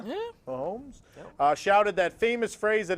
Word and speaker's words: Mahomes: The game's most valuable player, Patrick Mahomes, am I pronouncing that right? Yeah. Yeah. Mahomes, shouted that famous phrase